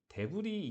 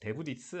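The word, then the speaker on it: debris: 필터 이렇게 돼 있는데 여기 데브리 이게 프랑스어인가 봐요. S를 발음 안 합니다. 혼동하지 마시고 데브리스 아니고 데브리예요.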